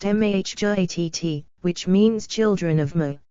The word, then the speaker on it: Mahjarrat: The mahjarrat, pronounced mahjarrat, which means children of Mah, are a warlike, very powerful and long-lived tribe.